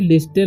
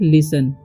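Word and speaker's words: listen: ईई एन तो इसे लिस्टन नहीं पढ़ना है इसे पढ़ना है लिसन क्या पढ़ना है लिसन टी का उच्चारण नहीं होगा इसी तरीके से एस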